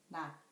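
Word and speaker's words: 낮: The fourth one is 지옷, not. The final consonant of not is 지옷. It ends with T sound, not.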